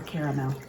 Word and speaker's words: caramel: Do you say caramel or caramel? I say caramel. 2 syllables, that's all. I know it's written caramel. I just think that sounds silly, so I don't say it. And if you say caramel, that's totally fine.